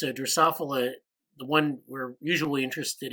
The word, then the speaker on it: Drosophila: something okay Lucas you're gonna drive us nuts pronunciation for the fruit fly is drosophila yeah I just realized I'm sorry yeah I